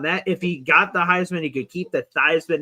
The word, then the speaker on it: Heisman: He changed his last name for the Heisman campaign to rhyme with Heisman.